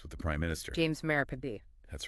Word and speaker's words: Marape: It's James Marape. Not James Morab or anything like that. We want to make sure we're pronouncing everything correctly.